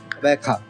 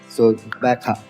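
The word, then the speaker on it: Gqeberha: Right now it's Bekha. So that's the pronunciation. So GQ in that spelling stands for Bekha.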